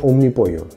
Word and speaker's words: Omnipollo: el nombre y efectivamente se pronuncia como un mi pollo vamos a limpiar aquí